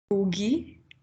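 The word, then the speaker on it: Ngũgĩ: It's Ngugi's words. Did I say that right? So how do I say it right? Let's get that right first. I think it's Ngugi. Yeah, Ngugi, that's it.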